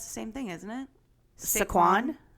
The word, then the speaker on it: Saquon: Saquon? It's Saquon Barkley.